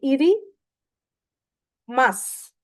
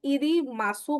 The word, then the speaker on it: いります: इरी लिखा है ये इरी मास मास आप इसको जिनको जैपनीज पढ़नी नहीं आती आप इसको इरी मासू मत पढ़ना इट इज इरी मास जो इसमें यू साइलेंट है ओ ओ सोरे इरी मास गा ठीक है।